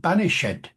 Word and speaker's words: banished: an e pronounced uh Shakespeare sometimes does it um you know banished but in Romeo and Juliet you get also not just banished but banished banished with the e pronounced at the end so you